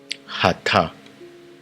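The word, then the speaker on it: אתה: Le tu c'est Hata. Il s'écrit de la sorte. Ha. Ta. Ha. Ta.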